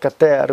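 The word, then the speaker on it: Keter: And it is kater in Hebrew is how you say it, kater, which means crown.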